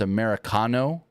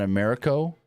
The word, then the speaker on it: Americano: I'm saying it wrong it's Americano not Americo I could have swore